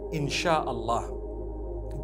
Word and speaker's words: Insha Allah: They pronounce the SY the way we pronounce SH. So they can write it how they want, for as long as when people read it, they read it INSHAAllah.